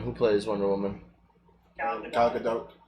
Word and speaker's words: Gal Gadot: Gal Gadot. Gal got it. Right? Gal Gadot. Yeah. Found out the T is pronounced.